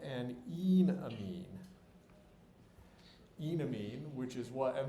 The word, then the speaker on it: enamine: there but the but the e in enamine is a long e you don't want to call it an enamine because either e it sounds like you're talking about an enemy or you're talking about a medical procedure um so enamine all